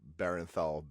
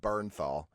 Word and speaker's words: Bernthal: You pronounce his name as if he's a Baronthal bear. He is a Baronthal bear. Sean Bernthal.